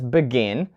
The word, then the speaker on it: begin: have such verbs as begin so listen begin not begin so we put the stress on the second syllable begin and decide not decide this